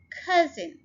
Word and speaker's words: cousin: Cousin, cousin, ये two syllable word है और stress हम first syllable के ऊपर डाल रहे हैं.